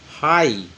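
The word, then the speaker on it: high: हाई, इसमें जी silent है, जी इज the silent on हाई, तो जी इसमें साइलेंट किया गया है।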